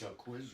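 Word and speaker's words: Jacquizz: And But Jaquiz Rogers is how do you pronounce his name? Jaquiz? that's Jaquiz yeah, Rogers?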